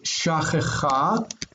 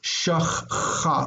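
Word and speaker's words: שָׁכְחָה: don't want to say shachcha. We don't have these two sounds together, so we do pronounce this. This medial shava is pronounced as a vocal shava.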